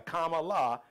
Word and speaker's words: Kamala: Stop mispronouncing her. Y'all can, come on. You know how to pray. Look, half of y'all name y'all babies with all these exotic ass names so you can pronounce Kamala. That's two syllables.